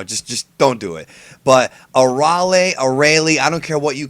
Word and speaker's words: Arale: Anyways, Arale does the intro here for the Super preview. And yes, if you pay attention to how she pronounces it, it's Arale, not Arale. Arale was the English dub name, and I've already got